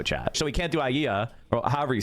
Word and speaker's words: Aliyah: So he can't do Aliyah, or however you say it. Aliyah, yeah, Aliyah, thank you. Aliyah. I can never pronounce that shit.